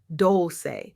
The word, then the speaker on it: Dolce: I'm Dolce, pronounced doulce, like sweet softness whispered in French, and I'm your guide from burnout to boundaries, from doing to being, from strong to soft.